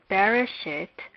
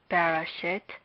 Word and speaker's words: Bereshit: Hence, we recognize Bereshit as a word with 3 syllables.